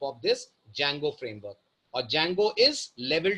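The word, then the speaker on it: Django: होता है ठीक है इसमें डी साइलेंट रहता है मैंने बहुत से लोगों को देखा है डी जंगो पढ़ते हैं इसको इट्स not pronounced as डी जंगो it's pronounced as ज जिसमें डी अल्फाबेट साइलेंट है और इसी के अंदर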